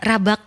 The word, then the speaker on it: Rabak: Ya, bukan Rabek ya. Saya menanyakan langsung, ini bacanya yang benar gimana Mbak Dini? Rabak kita menggunakan sesuai dengan logat bahasa Indonesia.